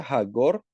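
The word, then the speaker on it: חגור: Así es como se escribe en hebreo y como se pronuncia hagor.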